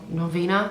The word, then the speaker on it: Norvina: kit I'm loving the Anastasia novena no novena that's how you say it's alright I shadow